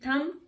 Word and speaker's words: thumb: THUMB, थम, तो इसमें हम थम बोलते हैं, थम, B साइलेंट हो जाता है।